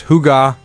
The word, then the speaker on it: hygge: organic elements, and the Scandinavian principle of hygge, pronounced hygge.